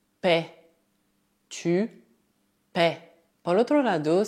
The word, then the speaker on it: paies: Assim, se escrever como I, deve dizer tu paies.